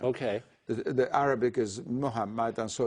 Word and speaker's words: Muhammad: with an m o That's the Persian U pronunciation okay the Arabic is Muhammad and so it's mu so uh what what